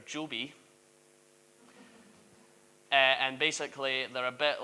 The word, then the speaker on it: Joby: They're called, you need to be careful how you say this because it's spelled G-O-B-Y. They're Joby.